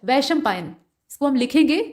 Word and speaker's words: वैशंपायन: बोला गया वैसं पायन जबकि होता है वैशंपायन श को हम लोग बड़े वाले श की तरह से यानी तालव्य श की तरह से उच्चारण करते हैं यानी हमारी जीभ जब इसका उच्चारण हम करते हैं तो हमारे तालू से जाकर लगती है ना कि मूर्धा से और यहां पर